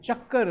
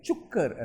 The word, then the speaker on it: chakkar: Similarly, this boy who I was recording, he said, instead of saying they do chakkar around the bead, he said they do chukkar around the bead. So chakkar became chukkar, like bus being pronounced as bus.